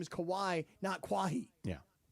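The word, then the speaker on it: Kawhi: the Clippers and you think kawai's name is quah I had a friend to call him kahi kah kah Leonard if you're a seasoned ticket holder to the Clippers you should know that it's pronounced Kawai I think he's had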